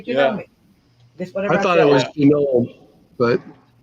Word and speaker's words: Janome: out of this okay it is actually pronounced Janome jome okay glena said